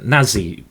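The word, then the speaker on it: Nazí: it's is it uh I think uh Nazi is how you pronounce it is the the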